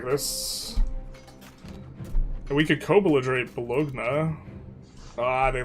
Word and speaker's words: Bologna: Like lasagna. Bologna. It's Bologna.